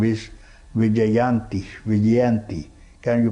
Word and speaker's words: Vijayanthi: So this name is Vijayanti, Vijayanti. Can you pronounce?